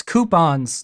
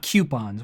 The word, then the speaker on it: coupon: okay first of all it's coupons not coupons where does people get the Q sound look it up you